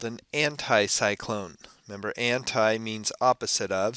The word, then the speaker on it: anticyclone: And again, a good way to remember anticyclone, if you pronounce that word just right, you can hear the word high in the middle of it.